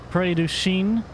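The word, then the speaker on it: Prairie du Chien: bridge over to Wisconsin pray do Shean I believe in the name of the town is how you pronounce it anyways and we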